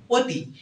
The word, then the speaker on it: অতি: অদ্যপক্ষ মন এগুলোর ক্ষেত্রে অর উচ্চারণ কিন্তু ও এর মত অর উচ্চারণটা কিসের মত ও এর মত যখন আমরা অতি বলতেছি